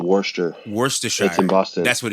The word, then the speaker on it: Worcester: brother lives in wor in a city called Worster how you say it yeah no wor Shire yeah no there's a city there's a city called Worster wor in Boston that's what it is Worster